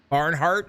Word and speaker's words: Barnhart: Barnhart, that's how you pronounce it.